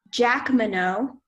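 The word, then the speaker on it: Jacqueminot: definition one more time the only pronunciation is Jack minnow and the definition is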